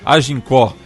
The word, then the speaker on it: Agincourt: A pronúncia está correta, Chico Laffer? Agincourt. Não, mas essa é a pronúncia francesa. A pronúncia que entra é a pronúncia dos vencedores, a pronúncia inglesa.